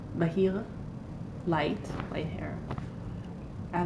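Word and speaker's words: בהיר: It's the way the light word is pronounced. Bahir.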